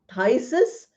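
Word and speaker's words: phthisis: this we have a disease called thyis we pronounce it as thyus but it's written with P.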